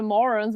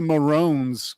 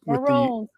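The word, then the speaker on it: Mörons: I didn't know the Morons were Canadians. Yeah, they're from, I want to say Alberta. Yeah. Oh, yeah, that's right. Yeah. And it's pronounced the Maroons. Maroons. Yeah, umlaut there.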